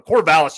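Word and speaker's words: Corvallis: got a lean orgon state in this one cor valis you said it right away true freshman on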